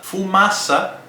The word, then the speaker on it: fumaça: Fumaça se escreve com C cedilha, né? Você sabe que é a letra C com uma pequena perninha, como se diz, né? Uma cedilha. Então, C cedilha, fumaça.